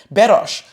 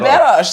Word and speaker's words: Beroš: introduce me with the pronunciation that's the Croatian pronunciation, which is Beroš. They'll be like, Beroš.